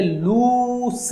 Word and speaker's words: loose: और LOOSE क्या है? कि सर ये लूस होता है। ये क्या होता है? लूस।